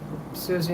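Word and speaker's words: Siouxsie: Susie in a band. cheese. Um yeah, it's pronounced a certain way though. Always pronounced like, you know, like a sue, native American Indian.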